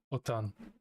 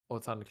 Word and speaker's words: Otan: Or not Oratal, sorry. Otan. Otan clan.